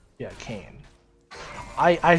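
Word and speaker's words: Kayn: cane or not yeah kane i i said kane meaning decaying you know like like nasa's kane and then in my mind i auto-corrected to k-a-y-n even though it's the same like like pronunciation you know i've lost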